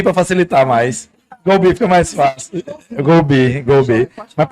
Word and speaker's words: GoBee: Pronunciar outro GoBee para facilitar mais. GoBee fica mais fácil.